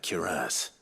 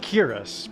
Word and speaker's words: cuirass: I've always said cuirass, but they're going like cuirass. Like heavy emphasis on the ass part.